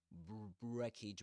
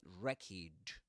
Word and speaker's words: wreckage: You don't say wreckage, but wreckage. This is wreckage. With the accent on wreckage.